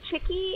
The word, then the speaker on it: chickee: what is a cheeky and how do we pronounce it right well actually um chicky is appropriate um although in the mikusuki language